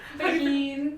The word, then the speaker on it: Behin: That's not how you pronounce it. How do you pronounce it? Behin.